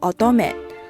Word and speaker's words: 乙女: 乙女在日语中念作 otome，通常指的是女性的少女阶段。